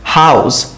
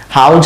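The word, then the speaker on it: house: হাউস, বাসা, হাউস, আপনার বাসাকে কি বলবেন? হাউস, হাউজ না কিন্তু, তো এই যে দেখেন জি যে উচ্চারণটা হাউস, এটা বাংলায় নেই, বাংলায় জ আছে, হাউজ, হাউস, এরকম একটা উচ্চারণ।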